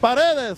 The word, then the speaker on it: Paredes: I'm not going to try it, but I'm going to go with your pronunciation. Paredes. I killed that. You did kill that. Paredes. How about that? What's up? Paredes, right?